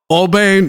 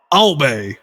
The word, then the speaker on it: Aube: Digital and CD, progressive black metal, atmospheric from France, trackless, spectral, astral, breaking of the bones, Petula, the Wanderer, Noir, Aube. A-U-B-E. In French it's probably Aube.